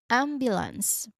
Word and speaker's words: ambulance: So, you break it into three parts and make sure that the stress stressed syllable here is on the first part which is am. So, you say it like this. Ambulance. Again, ambulance. There's a sha sound on the second and third. uh second and third, how do you call it? Second and third syllables. So, make sure that you take note of that.